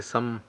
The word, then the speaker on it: Sam: you can uh it's it's spelled Sam but they say some Village so beautiful place